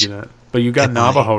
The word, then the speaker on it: Navajo: I guess English is a difficult language because I should have told you that, but you got Navajo right.